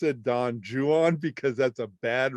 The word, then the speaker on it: Don Juan: and you'd read it byron's don juan but we pronounce it don juan because that's a bad rhyme in it he rhymes it with true one and new one and juan you know so that